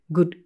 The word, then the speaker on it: good: Your tendency might be to pronounce this sound too short. So it sounds like good, good, good things instead of good things, good things.